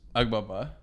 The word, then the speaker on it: Agbaba: Agbaba. That's right. There it is. That's good. I pronounced it right.